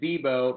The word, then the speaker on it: Bibeau: It's Bibeau, but the problem is when people read it, they overthink it. So if you just say it fast, it just slides by everyone and you're good.